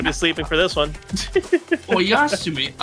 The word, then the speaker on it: Oyasumi: Oyasumi. Okay, that's how you pronounce that.